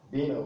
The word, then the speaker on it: vino: So, which means you can equally pronounce the V as B. So you have B, and the word vino.